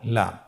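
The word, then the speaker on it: لَ: পরবর্তী হরফ লাম, উচ্চারণ সহকারে হরকত দিয়ে বলুন লাম জবর লা, লাম জের লি, লালি, লাম পেশ লু, লালি লু।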